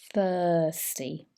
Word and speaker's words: thirsty: be feeling very thirsty this is an r sound thirsty but the r is quite soft and british english thirsty peeing more frequently